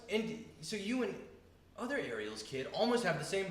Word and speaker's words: Ariel: Ariel. Ariel. Congratulations. That's how you say it. in That's Spanish. exactly that's how you pronounce it in Hebrew, also. Ariel. Ariel. That's wild. Yeah, with the rolling R too.